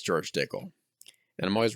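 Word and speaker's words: Dickel: how much George dickl are you just saying pickle Rhymes I've only had the the bottle and bond I've never had any other George dickle dickle rhymes with pickle that I like pickles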